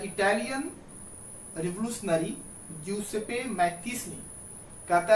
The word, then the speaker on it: Mazzini: One such individual was the Italian revolutionary Giuseppe मैत्तीसनी। कहता है कि इन्हीं क्रांतिकारियों में से एक क्रांतिकारी था जिसका नाम था ज्यूसेपे मैत्तीसनी। देखिए स्पेलिंग लिखा हुआ है MAZZINI, लेकिन इसको पढ़ेंगे मैत्तीसनी। तो कहता है कि इन्हीं